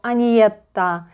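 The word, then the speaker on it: Agnetha: Сначала Бьорн, потом он дает эстафету Агнетте, и она говорит, как правильно произносить ее имя. Это на английском. Да, я понимаю, что многим сложно произносить мое имя так, поэтому вы можете произнести его Аниетта или Анна.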